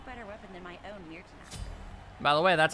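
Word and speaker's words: Myrtenaster: There's no better weapon than my own Mirtanaster. By the way, that's how you pronounce that, An ally has Mirtanaster.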